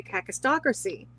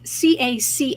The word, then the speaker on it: kakistocracy: of a state and it's spelled k a Ki stracy whereas I I was thinking and I assumed it was caca h stracy h um Kristen asked